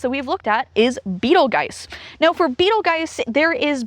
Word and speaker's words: Betelgeuse: Beetlejuice, Beetlejuice, well, while some people pronounce the star name as Beetlejuice, it is more commonly pronounced as Betelgeuse.